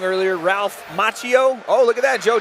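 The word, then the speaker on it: Ralph Macchio: I I said his name wrong earlier. Ralph Machio.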